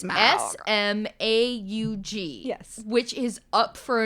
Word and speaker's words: Smaug: I think I'm saying it the way Benedict Cumberbatch says it. It is Smaug.